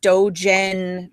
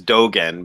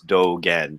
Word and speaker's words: Dōgen: the name is is dogen but everybody mispronounces it because we're used to seeing a g and an e you know we learn